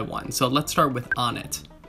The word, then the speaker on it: Onett: so let's start with on it it definitely makes sense on a phonetic level like i think most people have gravitated towards one pronunciation because that was the first way they heard it pronounced and i have a